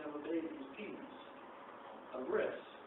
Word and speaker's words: bris: A bris. It's berit. It's berit. It's just pronounced according to Ashkenazi Judaism.